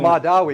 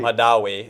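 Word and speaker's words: Mahdawi: can never Mosen Mosen Madawi Madawi and I always say it like totally messed up, but this rhymes with Gandhi, which I think sometimes he's trying to kind of imitate, but anyway.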